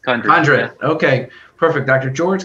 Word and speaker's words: Condrut: Am I pronouncing that correctly? Condrut. Condrut.